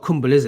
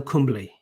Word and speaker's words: Kumble: definitely i don't know no it's not cumberland it's anal cumberley come on get your pronunciation right all right anyway um